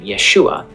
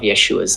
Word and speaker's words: Yeshua: Now, there is some debate over the last syllable of Yeshua's name. Some scholars think that the ah sound at the end was pronounced much more subtly in the 1st century, resulting in a name that was pronounced more like Yeshua.